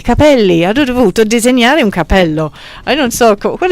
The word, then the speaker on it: capello: Cappello e capello. Ok, I give up. Mi arrendo. Non capisco. Allora, il plurale... Cappelli o capelli. Ok. Alright, lo dici tu. Due P, una P.